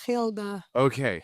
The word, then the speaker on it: Gilde: That's always a topic, and I can't pronounce it. So, Oh, no. no, yeah, I think it's Gilde.